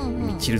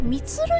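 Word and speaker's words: ミチル: ミチルさんって読むんですね。ミツルじゃないもんね。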